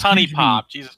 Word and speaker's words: HuniePop: knows honey pop well no it's just called pronouncing the word right who knew poop it's honey pop well he also says melee melee whatever is